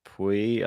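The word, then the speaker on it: Pouille: Lucas peel yeah Lucas I think it's pronounced Pui I think uh yeah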